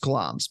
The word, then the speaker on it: Glamis: is sometimes known um so the monster of gloms uh takes place at gloms Castle it's it's spelled g l a m i s but it's pronounced glams best known as the seat of the titular